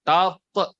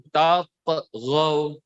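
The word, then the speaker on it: تطغوا: Dengerin cara baca Ustaz. Pantulkan. Tatghaw. Tatghaw.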